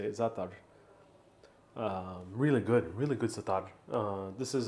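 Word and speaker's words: za'atar: That's how you say it, Zatar.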